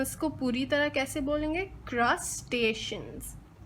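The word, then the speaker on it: crustaceans: इसमें स्पेलिंग तो मुख्तलिफ है, लेकिन हमें याद रखना है कि क्रस्टेशियंस। तो हम इसको पूरी तरह कैसे बोलेंगे? क्रस्टेशियंस।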